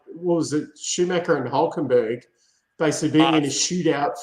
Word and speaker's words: Hülkenberg: No, Hülkenberg. Like, Hülkenberg. That's how you got to say it properly, man.